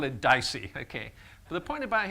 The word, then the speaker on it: DICE: I'm going to pronounce it DICE, which happens to be Latin for to be said, which is not why I chose it.